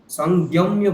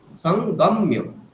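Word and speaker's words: सङ्गम्य: আপনি বলছেন উঙ প্লাস গ প্লাস আবার একটা ইয় যোগ করে দিচ্ছেন, জ্ঞ বলে দিচ্ছেন, সংযম্য বলছেন, সেটা ভুল। সংগম্য, ঠিক?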